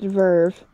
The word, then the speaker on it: VRV: It's pronounced Verve.